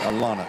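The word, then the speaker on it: Alonna: At the line shooting 2 is Alana Poole. I believe it's pronounced Alana, A-L-O-N-N-A, Alana Poole.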